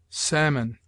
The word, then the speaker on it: salmon: L is sometimes mute, as in calf, half, halves, calves, could, would, should, psalm, talk, salmon, falcon.